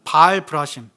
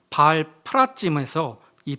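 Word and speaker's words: בעל פרצים: 하나님이 블레셋을 파열 파괴시켰다라는 뜻하는 바알 브라심 원문 발음으로 발 플라짐에서이 플라짐은요 파라즈 파괴하다라는 단어가 사용되었어요.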